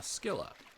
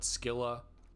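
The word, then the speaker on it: Scylla: Destination reached Cheney called it Skila. I would say Sila.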